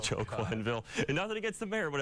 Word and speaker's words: Quenneville: there that mispronounces something the mayor when he called him Joel Quenneville instead of joking ville nobody gets the mayor